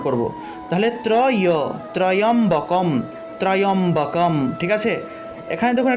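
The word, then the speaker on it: ত্র্যম্বকম্: তা চলুন আমরা প্রথমে আওম উচ্চারণ করলাম, তারপরে ত্রয়ম্বকম। এখানে দেখুন একটা তয় নিচে রফলা, অর্থাৎ ত্র উচ্চারণ করব, ত্র। তারপরে দেখুন একটা জফলা আছে, এই জফলার পরিবর্তে ইও উচ্চারণ হয়ে থাকে।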